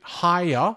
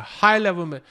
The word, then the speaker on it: higher: higher level of animation 所以 higher 是两个音节、啊、很多同学说 high level high level 是 higher、啊、等会念的时候一定要把它连起来一定要把它这个两个音节体现出来、啊、所以 higher to